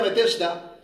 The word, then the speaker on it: Betesda: En hebreo se pronuncia Betesda, pero significa casa de misericordia.